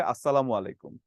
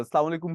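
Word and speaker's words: السلام عليكم: এদিক সেদিক হয়ে যায় প্রকৃত যে উচ্চারণ আছে সেটা হচ্ছে আসসালামু আলাইকুম আর অনেক সময় আসসালামু আলাইকুম আমরা যখন খুব তাড়াতাড়ি করে বলি এটা কিন্তু যেকোনো ভাইবাভা বোর্ডে গেলে খুব ধরে এটা কি বললেন আসালামু আলাইকুম কি আবার আসসালামু আলাইকুম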